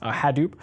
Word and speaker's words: Hadoop: Solutions like Hadoop uh is that how it's pronounced yes Hadoop he was saying the Hadoop distributed file system